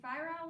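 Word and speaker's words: ephyra: a um if you fire a larva i'm saying it wrong again and it looks like this kind of like that another bad drawing but that's what it becomes and this is how you spell it we are running out of room okay so you spell it like this e p h y r a larva larva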